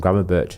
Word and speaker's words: Gravenberch: With I think it was Edson Alvarez, and then he had Bergwijn, or how he pronounces his name, Gravenberch, as the 2 advanced 10s ahead of him.